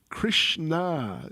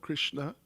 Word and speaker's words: Krishna: Sheila Prabhad wrote to Krishna Davyi Krishn not Krishna Krishna long a Davy so it's a Lady with the name Krishna Davyi Krishna with a long a is name of Dropy.